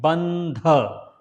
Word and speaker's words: Bandha: This word also has come several times before. So I will just say it Bandha. It's not dha.